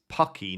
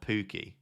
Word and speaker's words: Pukki: It's Pucky, not Pookie.